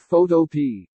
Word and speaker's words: Photopea: with photo or like photo P I pronounce it like a vegetable P or like black-eyed peas smiley face I'm sure